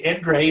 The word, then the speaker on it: Endre: Endre is spelled E-N-D-R-E. It's like Andre, only starts with an E.